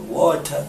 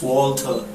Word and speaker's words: Walter: And I don't like a lot of people pronounce my name like or Water. No, it's Walter.